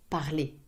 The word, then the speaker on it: parlez: Vous parlez. Vous parlez. Vous parlez. EZ. Vous parlez. Ooh, Pronounced Z. Z is Z, right? as if it was an E with a stress on top of it.